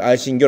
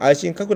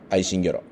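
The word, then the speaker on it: 愛新覚羅: 愛心魚族でこれ愛心魚と読みますま愛心角と呼んでもいいですけれども日本風にまそのままの発音でいけば愛心魚ヌルハチという人物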